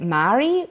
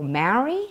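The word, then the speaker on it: Māori: it properly is that Maori or Maori gotta roll the are sorts moldy moldy almost like moldy he'd like think moldy cheese Moishe every time I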